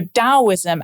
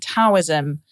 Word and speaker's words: Taoism: beliefs and practices, but they're sometimes spelt with a T, sometimes with a D, sometimes said with a T, and not always matching up.